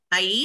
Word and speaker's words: Ais: Ais. Did you spell it?